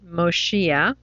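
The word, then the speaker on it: מושיע: And it modifies the way the whole word looks, and we pronounce it Moshia.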